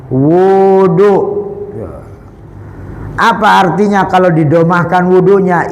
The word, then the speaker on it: wudu: Maka kita caranya adalah dengan wud wudu bidomil wau. Bidomil wawi pakai domah wau. Bacanya wudu.